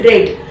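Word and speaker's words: read: पढ़ लिया था, तो पास्ट की ही फॉर्म में आप बोलते हैं रेड.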